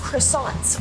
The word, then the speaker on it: croissant: Kant in my life before Mom it's actually pronounced croissant or C if you want to be French